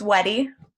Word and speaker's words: Weddy: Next, we have Shauna, and I believe your last name is pronounced Weedy, is that correct? It's Weddy. Weddy, okay, so close.